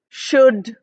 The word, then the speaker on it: should: have o u l o u l are not pronounced in you know the way it is written but it's pronounced as o the short u sound we don't say C we don't say would we don't say should we say should or would or could so short oo sound and I've given you